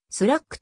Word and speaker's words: SLAC: の人たちは slac をスラックと発音している 1962 年スタンフォード線形